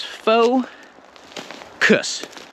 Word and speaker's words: focus: saying vowel vowel and the same is true for focus right it's faux cuss right it's almost like i'm just pronouncing the c and s now obviously that's not